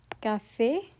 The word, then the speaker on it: café: Here we have a sharp E, café, and then here we have an open E, mère, mère.